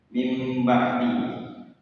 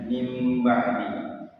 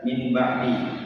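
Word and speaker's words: من بعد: Akan tetapi cara membacanya itu nun mati. Nun matinya diganti dengan huruf mim. Jadinya mim ba'di. Kalau orang yang ketahu ee hukum tajwidnya, dia akan membaca min ba'di. Nah, itu termasuk salah.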